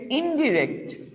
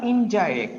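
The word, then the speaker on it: indirect: অর্থাৎ এটা ডিরেক্ট speech আর এটা হচ্ছে ইনডিরেক্ট, তাই না? ডিরেক্ট থেকে ইনডিরেক্ট বা ইনডাইরেক্ট, যেটাই বলো না কেন উচ্চারণে, বোথ আর কারেক্ট।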